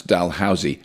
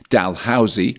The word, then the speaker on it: Dalhousie: Now, I looked up how you pronounce Dalhousie, and you can do it in 2 ways, Dalhousie or Dalhousie. But you can say Dalhousie, which is how it's spelt.